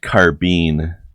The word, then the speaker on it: carbine: Alright, guys, Kai is really invested in wanting you guys to know that it's pronounced carbine.